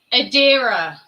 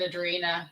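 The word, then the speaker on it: Adira: oh ad yeah I I got their name wrong I said I said Adrina but I I knew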